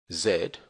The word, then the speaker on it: Z: x-ray y for Yankee and Zed or Z as it's pronounced in the United States for Zulu you may